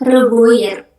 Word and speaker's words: revoir: R-nya ditenggorokan, huruf O dan I kalau bertemu itu kita bacanya wa. Jadi ingat O dan I kalau ada berdua nih kita bacanya wa, bukan OI, tapi wa.